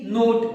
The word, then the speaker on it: note: ऐसे कब कौन सा लेटर कहां साइलेंट होता है, कई बार ई साइलेंट होता है बाद में, जैसे कि MODE हम क्या पढ़ते हैं मोड, NOTE नोट, उसको नोटे नहीं पढ़ते, ई लिखा है जबकि।